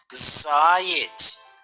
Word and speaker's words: заєць: у слові заєць вимовмо слово заєць правильно наголос падає на перший склад ось слово жаба знайдемо